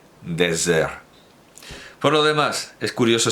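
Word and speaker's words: Déserts: Por lo demás, para que quede claro, para quien me pueda reprochar una imprecisión o ambigüedad en la pronunciación, Désert.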